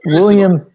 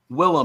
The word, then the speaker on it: Willem: What about William? What about William Dafoe? Willem. Like he said, his name's Willem Dafoe, but they pronounce it Dafoe.